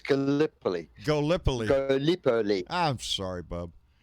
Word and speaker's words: Gallipoli: pellet Elysee yep yep did I say it right Gallipoli no it's Gallipoli Gallipoli pearly I'm sorry